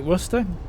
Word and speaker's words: Worcester: is what it is they say it like Worster Worster good guess they should I love it when Americans pronounce um leester always get a good kick